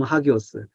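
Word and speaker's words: ἅγιος: 성도는 하악이어스인데요 하교스 원어사전 하교스 발음 학이오스 신성하다 결백하다 거룩하다 가장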